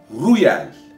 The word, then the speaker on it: Reuel: John Ronald Reuel Tolkien. Oxford sözlüğüne göre okunuş bu.